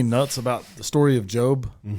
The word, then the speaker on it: Job: about the story of Job? Mhm. Is his name spelled like Job. Job. That's a like Where's the E? It should be J O B E.